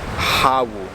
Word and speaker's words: Hawu: Now I guess it doesn't really matter, because in Savu they have their own traditional Sabunese language, and they pronounce it more as Hawu with the H.